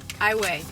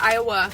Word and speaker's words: Iowa: which is in highway i way not iowa because that's a state highway is a city in